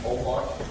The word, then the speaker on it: Holbox: Isla Holbox, Holbox, pronounced Holbox.